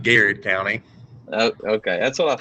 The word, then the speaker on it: Garrett County: Benjamin Davis from, do you say Garrett County or Gerard? How do you say that? Now you got it right, Garrett County.